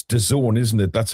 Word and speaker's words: DAZN: Uh doesn't Germany has an interview with Oh, it's DAZN, isn't it? That's how you pronounce it.